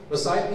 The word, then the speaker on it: Maasai: Maasai people?